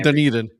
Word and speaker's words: Dunedin: I'm a good friend of their merchandiser in Dunedin. I pronounce it wrong. Dunedin. Eden. There we go.